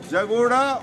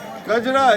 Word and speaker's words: Kajra: So Kajra has been mispronounced by Tibetans as Jagoda. And Tibetans say that Tilopa was born either in Jagoda or Chativavo.